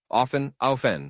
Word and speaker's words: often: Often, with a silent T and 5.